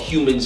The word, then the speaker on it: Huemans: So it's called Humans in Tech, and it's spelled HUEMANS.